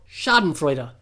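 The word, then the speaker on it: Schadenfreude: freuder Samuel gave imp a thumbs up yes shardan Freer pronounced it right so we get a kick out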